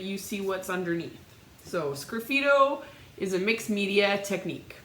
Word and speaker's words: sgraffito: So it's like if you take the S off, graffito, but with an S in front. So it's pronounced Sgraffito.